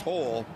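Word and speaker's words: Houl: H O U L. HHL pronounced hole will kick off.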